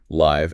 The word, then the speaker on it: Live: Is it pronounced live as in playing live or live as in live and let live? The source confirms it's the former live as in livewire, right?